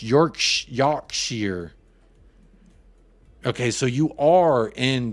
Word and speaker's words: Yorkshire: your noodle is canoodled I'm in Yorkshire pronounced York Yar okay so you are